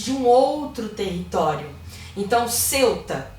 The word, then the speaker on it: Ceuta: um outro território então Ceuta que alguns pronunciam como Celta e melila são dois